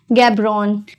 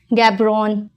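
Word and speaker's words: Gaborone: और इसकी बोत्सवाना की कैपिटल की बात कर ले अगर हम, तो गैब्रोन, गैब्रोन, इसको गैब्रोन पढ़ते हैं, गैब्रोने नहीं पढ़ते हैं, गैब्रोन। Okay, E is silent over here.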